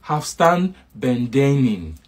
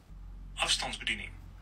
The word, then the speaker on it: afstandsbediening: simple words that are hard to pronounce in Dutch. So to say remote control is afstandsbediening. Afstandsbediening.